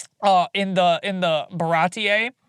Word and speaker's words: Baratie: Uh in the in the Baratie. Like your first introduction to him. Yeah. Did I pronounce that right? Baratie?